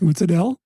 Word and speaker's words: mozzarella: I'd be like, Sal, it's actually pronounced mozzarella.